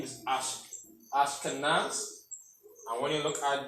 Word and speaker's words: Ashkenaz: So pronunciation for the ancient name is Ashkenaz.